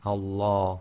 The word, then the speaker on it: Allah: so be very careful it's Allah and that's the effect of having the sound of fata before the lamb of Allah okay now we'll talk